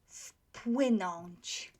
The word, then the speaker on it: wpłynąć: So, unvoiced, make the first one unvoiced as well. So, wpłynąć. We pronounce it like that.